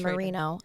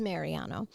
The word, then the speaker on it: Mariano: And I think I did this in the first episode, too. His name is Mariano.